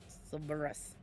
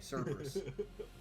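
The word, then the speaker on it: Cerberus: I'm going to charge my sberus. Salvo. Okay, say it with me. Cberus.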